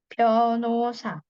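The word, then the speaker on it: 변호사: saopka saopka Lalu ada pengacara pionosa h-nya dibaca samar pionosa pionosa Lalu ada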